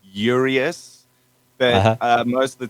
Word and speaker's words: URÆUS: on you man tell us how do we pronounce the bad name yeah okay so um we we typically say yurius but uh most of the time people think it's uranus and it's close enough so you know we